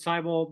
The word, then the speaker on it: Seibel: my name is cyel my last name rhymes with Bible it is my privilege